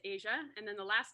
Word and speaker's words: Aja: how old i am now and my name's pronounced asia and then the last name i inherited when